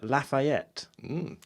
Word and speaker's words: Lafayette: And the L stands for Lafayette.